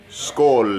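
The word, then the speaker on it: skål: buddy cheers sko SK skull is how you say cheers in Swedish I love the sound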